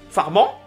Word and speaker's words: Farman: Farman? Ou c'est moi qui prononce mal? Mais en fait, je l'ai jamais entendu en nom. J'ai toujours lu. On le prononce à la française, donc Farman.